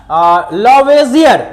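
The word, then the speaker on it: Lavoisier: अब जरा ध्यान देना बच्चा, एंटोनी लॉरेंट है ना, लॉवेजियर या लेवोजियर, जो बोलना है बोल सकते, प्रोनाउंसिएशन है, कहीं लेवोजियर बोलते हैं, यहां पर लिखे हुए हैं लावोजियर बोले हैं, को रसायन विज्ञान का जनक कहा जाता है।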